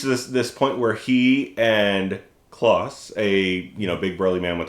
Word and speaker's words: Klaus: Either way, it's supposed to be like Santa Claus, but it's spelled with a K.